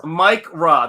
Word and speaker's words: Micra: It's Mike Ra. There you go. Micra is correcting.